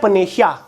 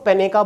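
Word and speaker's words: panacea: हैं एक होता है पेनेशिया कुछ लोग इसको पेनेका बोलते हैं कुछ लोग पनिकिया बोलते हैं तो ये होता है पेनेशिया इसका हिंदी में मतलब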